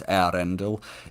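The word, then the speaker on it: Eärendil: where you separate the E and the A, so it's Yarendel. It's much more subtle than that Yarendel.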